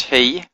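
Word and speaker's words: היא: But it's pronounced he, so it's confusing, but it means she in Hebrew.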